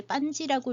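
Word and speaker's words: Panji: 빤 지 반지 또는 판 탄지 라고 써놓고 이제 빤 지라고 읽어서 왜냐하면 인도네시아어로 빠지라고 많이 읽어서 그래요 저희 반지 왕자와 그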